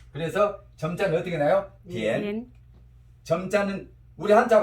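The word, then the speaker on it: 点: 디엔. 디엔. 점자는 우리 한자 발음 점자가 뭘 바뀌어?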